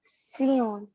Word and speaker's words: science: We pronounce it seance. Ma'am, we pronounce it Sion. Yes, it is pronounced as seance.